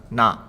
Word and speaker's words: な: In the nani nune no column, you start to see the beginning of several kana that look very similar to each other.